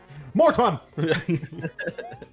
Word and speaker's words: Morton: And just pronounce the T. You're doing the Smash Bros voice. Morton!